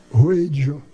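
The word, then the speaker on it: Wheydja: Ela disse, Ruedja. Eu disse, como é que se escreve? Ela disse, W-H-E-Y-D-J-A, Ruedja.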